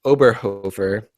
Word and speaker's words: Oberhofer: album I have is uh by the artist oberhover which is spelled o b e r h o f